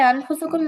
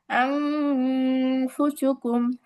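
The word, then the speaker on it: أنفسكم: কিন্তু এটাকে আনফুসুকুম না পড়ে আমাদের পড়তে হবে আংফুসুকুম, আংফুসুকুম। এই যে আন না পড়ে আং, আং বলে নাকের ভিতরে লুকায়া গুন্না করলাম, এটাই হচ্ছে ইকফা গুন্না।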